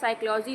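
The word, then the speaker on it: psychology: जैसे आप साइकोलॉजी लिखते हैं तो साइकोलॉजी में कहीं स्टार्टिंग पी से होती है, लेकिन नहीं, हम लोग पी से स्टार्ट करते हैं साइकोलॉजी को।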